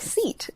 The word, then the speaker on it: SEAT: Oh, well, I thought it was interesting that there's a car called Seat, which is spelled like seat, but it's Seat.